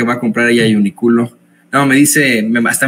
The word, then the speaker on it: Uniqlo: Como diría este señor que va a comprar ahí a Uniqlo, no, me dice, me hasta me mandó Ceci, la pronunciación es Uniqlo, Uniqlo, así se pronuncia, ¿no?